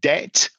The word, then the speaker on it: debt: So the T in mortgage is silent and the B in debt or doubt is also silent.